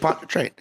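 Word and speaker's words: Pontchartrain: this Lake um lake lake ponter train is how have made up words in that state Lake Pon train but that's how that's how they say it New Orleans but a French person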